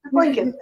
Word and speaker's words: Lincoln: but whenever he said Lincoln he always pronounced the second L like lincol it's like that's the one thing like you know Dad it's Lincoln he like retain a